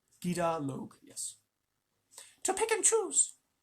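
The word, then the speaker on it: Gidur-log: Did I pronounce that right? Gida Log, yes.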